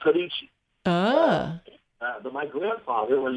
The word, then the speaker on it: Sorice: We're not going to say sorass, right? But we're going to say Sorice. So we're going to say Sorice. Okay, Sorice. It's actually an Italian name, and it's pronounced Sorice.